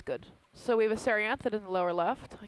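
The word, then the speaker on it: Cerianthid: I don't want to step on this Serianthid. Is that the right pronunciation? Serianthid, yeah.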